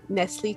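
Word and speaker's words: Nestlé: could be we know how you actually pronounce it it's actually nesle to house house wow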